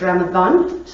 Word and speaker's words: Ramadan: So it's Ramadan, it's pronounced with a TH, though it's not spelled that way.